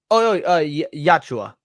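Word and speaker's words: Yautja: How do you pronounce that? Hold on. Yachua. Yeah, that's the Yachua.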